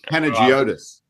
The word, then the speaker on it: Panagiotis: Now, how do you pronounce that chopper's name again? Jonas. Jonas. There you go. Panagiotis.